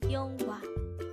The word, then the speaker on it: 영화: The Korean term for movie is 영화. Again, it's 영화. This is pronounced as a two-syllable word. The first syllable is 영, and the second syllable is 화.